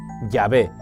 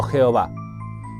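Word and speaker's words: Yahvé: dios de éxodo 314 es llave y no jehová ellos mismos lo reconocen en su libro cosas en las cuales es imposible que dios mienta dicen hay muchos eruditos que piensan que su pronunciación correcta es llave pero a renglón seguido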